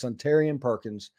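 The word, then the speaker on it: Suntarine Perkins: See, everybody keeps commenting how it's supposed to be pronounced in there, and it just messes me up. It's Suntarian Perkins.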